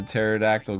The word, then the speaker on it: pterodactyl: come you couldn't hear the pterodactyle go into the bathroom silent P yeah yay that's funny